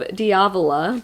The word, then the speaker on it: Diavola: just say Arc I got an arc of diavola by Jennifer Thorne and that's apparently how you